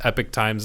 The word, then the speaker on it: Epoch Times: I see Epoch News in there as well, but it's like, or Epoch Times, Epic Times is how they pronounce it. I don't know.